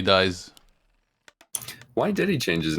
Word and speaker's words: DiSe: song i was sure his nickname was these it's like the french pronunciation i was like oh my god there's so many bad things you could say with this nickname thank god it turned out to be dice why did he change